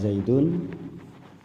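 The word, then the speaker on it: زيد: Lafadz zaidun ketika belum kemasukan apa-apa, sebelum kemasukan apapun bentuknya, itu zaidun ini dibaca wakof. Zaid, bacanya Zaid, dibaca wakof.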